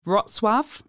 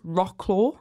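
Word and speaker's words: Wrocław: I'd say like kov roswave which is the one that's spelled like it's rock claw gang another one like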